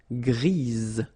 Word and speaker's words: grise: Gris, don't pronounce the S, but then for the feminine form, grise. Remember? Grise. Alright? So when you add this E, basically it gives you the pronunciation or the possibility to pronounce the previous letter here. It's Z. Grise.